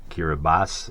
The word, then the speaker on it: Kiribati: yes it is pronounced kirbas uh the ti at the end in the native language is pronounced as an S uh kirbas is a